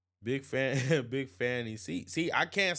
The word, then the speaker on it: Fani: not calling her fonnie I'm not calling her fonnie sorry I'm not it's Fanny her name is spelled like Trump said her name is spelled Fanny it's spelled Fanny her name